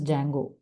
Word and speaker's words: Django: Uh but the library or the framework for this is Django. D is silent. Django.